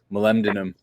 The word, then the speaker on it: molybdenum: Like a little zinc, a little topical magnesium, the selenium, the molybdenum, which is one of the hardest minerals to pronounce, molybdenum, and Molly then B, there you go.